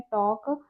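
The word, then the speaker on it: talk: तो टी एल के में टॉक पढ़ रहे हैं तो एल का उच्चारण नहीं है।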